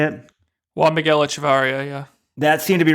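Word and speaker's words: Echevarría: But, the long jump with Echeverry, is that how you say it? Juan Miguel Echevarria, yeah.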